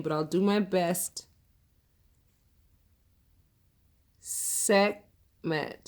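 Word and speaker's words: Sekhmet: I'll do my best segment segment the H must be silent it spelled s EK h m ET okay jim and i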